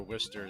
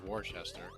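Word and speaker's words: Worcester: How many people call it Wararchchester? I don't know if I even said it right, but I I think it's closer to Wister than Warchester. I just remember it being closer to like Wishes Sauce than Warchester.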